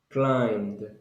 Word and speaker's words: climbed: climb Al good climb climbed climbed in this case you don't pronounce the letter B you only pronounce climb with M and then the climbed